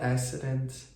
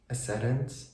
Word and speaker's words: ascendant: I'm a Virgo my accident is is it asant ascendant ascendant ascendant my ascendant is Leo I was born in Ukraine in